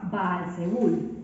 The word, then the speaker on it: Baal-Zebul: En filisteo, este dios se pronunciaba Baal-Zebul, no terminando en D, sino con N, y significaba Señor exaltado.